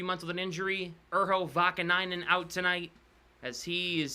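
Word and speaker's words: Vaakanainen: That's not even close to being right. Urho Vakanainen. We're both in the line. Why is he on the Rangers? Vakahainen's how I used to pronounce it.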